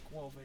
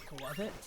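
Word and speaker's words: Skwovet: But yeah, so hardly anyone ever saw this, but I evolved the, I guess it's not pronounced Squovid, it's pronounced Squovit, like squirrel and covet.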